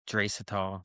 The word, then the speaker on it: Draisaitl: How do you pronounce his name? I think Draisaitl.